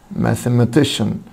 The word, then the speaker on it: mathematician: mathematician mathematician mathematician طبعا حبيبي C-I-A-N بتنطق شن شن mathematician.